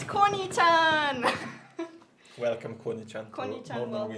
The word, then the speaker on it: Koni-chan: It's Koni-chan. Welcome, Koni-chan. to Koni-chan, Northern welcome Wind. to our family. So it's spelled Koni.